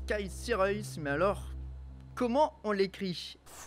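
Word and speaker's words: Sierhuis: 2019 son prénom s'écaille on prononce kaissi raïs mais alors comment on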